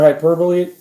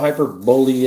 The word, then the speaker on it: hyperbole: you don't know what hyperbole is. It isn't hyperbole. It's hyperbole.